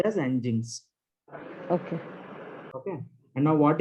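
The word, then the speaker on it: nginx: is this sentence there is something ng inx engines it's pronounced as engines okay okay and now what is this engines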